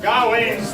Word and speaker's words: Gawain: I had to let you win, so that you could continue to train and perhaps one day be worthy of Gawain's legacy. For future contestants, it's pronounced Gawain, but that was an excellent attempt.